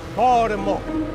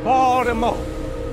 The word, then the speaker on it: Baltimore: Don't pronounce the T. You hear that word? Baltimore. Baltimore.